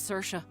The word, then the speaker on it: Saoirse: That is an extremely Irish name that I do not know how to pronounce. Name's Saoirse.